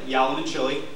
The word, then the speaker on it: Yalamanchili: my name is yam and Chile I know it's a lot to pronounce can be hard to pronounce but I I'm lucky I've got Cincinnati's favorite food in my name for everybody when you